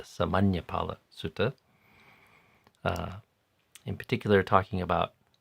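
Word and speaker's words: Sāmaññaphala Sutta: I think I also mispronounced that yesterday, calling it the Samanapala Sutta, but it's the Samanyapala Sutta.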